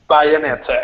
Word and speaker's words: Bayonetta: Bayonetta, exactly.